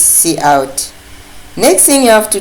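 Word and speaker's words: cout: Colony then see out this is pronounced at C out whatever you can pronounce it but in C++ we call this C out next thing you have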